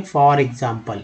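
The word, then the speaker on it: e.g.: फॉर एग्जाम्पल, अब देखिए ई आई को आई ई नहीं बोलेंगे, बल्कि इसको बोलेंगे फॉर एग्जाम्पल। एक याद रखिए, इसको उच्चारण फॉर एग्जाम्पल होता है।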